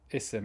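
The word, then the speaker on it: اسم: words isim and eben you only pronounce the alif when it's at the beginning of the sentence what do i mean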